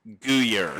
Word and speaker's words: Guyer: Please Big welcome Guyer.